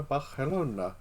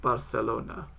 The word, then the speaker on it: Barcelona: Barelona. Is that better Spanish pronunciation? No. Oh, not quite. I think it's more like a th sound. Go on then. More like Barcelona.